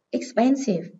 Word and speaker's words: expensive: Expensive. Từ này có hậu tố là if, nên trọng âm rơi âm tiết trước nó.